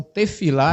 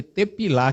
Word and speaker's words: tefilá: um radical palel, que o P e o F em hebraico, depende da posição. Ele é P, em outra posição ele é F. Então, tefilá era para se escrever tepilá, que vem de palel, que é o radical, mas se escreve tefilá.